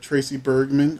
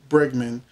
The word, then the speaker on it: Bregman: for how long but tracy bergman i'm sorry tracy bergman who plays lauren uh finn moore baldwin will be back to the show so i got her name wrong but tracy berg um bregman is back to young